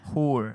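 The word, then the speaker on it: hoor: And now, like, just spelling wise, so this person spelled it H-O-O-R. Yeah. Whore. Yeah. That's not really how you would spell it, but that's how you would say it.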